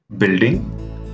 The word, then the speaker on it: building: The next letter is U. Here, you don't have to pronounce the letter U. Try it. It's guard, biscuit, building, rough, tough.